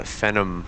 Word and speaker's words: Phenom: and we've also got the uh the uh Phenom or is that how you pronounce it yeah Phenom yes is that it down there it's it's